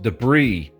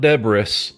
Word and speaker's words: debris: The word is pronounced debris, not debris.